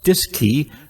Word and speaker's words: DSKY: digital display and keypad known as the dsky pronounced disk key on board both the cm and lm mission control at houston also had a disk key to interface with the